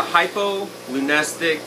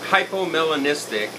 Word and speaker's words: hypomelanistic: and uh it's a hypo Lunes or hypomelanistic Honduran milk snake I know that's a mouthful and you know I kind of butchered it a little bit but it's hypomelanistic Honduran milk snake so it's it's one